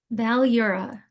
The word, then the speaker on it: Balyura: Balura.